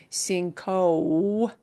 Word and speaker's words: cinco: In Spanish, that long O sound exists, but it's not blended into another vowel sound. Cinco. Cinco. Yeah.